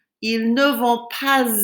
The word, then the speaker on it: pas: Notice how I have to pronounce the S on the end of pas, and it's because there's a vowel coming after it. Ils ne vont pas à la plage.